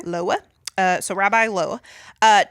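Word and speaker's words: Loew: Um, it looks like Loa. L O E W. Okay. Loa.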